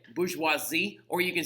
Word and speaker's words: bourgeoisie: that word right there very important that we actually say it correctly it's a very common last name down here Bourgeois bourgeoisie all right so like now look the thing about it is when you're saying it in French you can say bourgeoisie